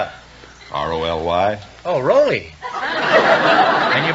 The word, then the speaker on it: Roly: Raleigh. Really? No, Raleigh. You realize, of course, that we can be sued by Abbott and Costello. How do you spell it? R-O-L-Y.